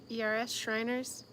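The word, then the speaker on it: Schreiner's: So if you go over there, how do they pronounce their name or spell it? It's SCHREINERS, Shriners.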